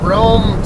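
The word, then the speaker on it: Rhome: We are in Rome, Texas right now. R-H-O-M-E is how it's spelled, and you might see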